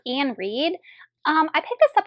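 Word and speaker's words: Iain Reid: I have foe by I think it's pronounced Ian Reed um I picked this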